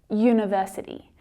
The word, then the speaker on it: university: So the U in university is pronounced U, university, as if it's written with the consonant letter Y, that sound, Y.